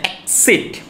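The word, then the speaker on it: accede: অ্যাসিড মানে actually কথাটা আমরা বলি এসিড এসিড না এক্সিড এ সি ইয়ে যে কথাটা রয়েছে এ সি প্রথমে একসাথে উচ্চারণ হয় তারপর একটা আলাদাভাবে উচ্চারণ এক্সিড টু মিন্স আমি তোমার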